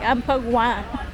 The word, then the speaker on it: Amphawa: A ver, tú muéstrame lo que te compraste en el mercadito de Ampagua. ¿Cómo se pronuncia? What is the name Ampagua? Sí, Ampagua.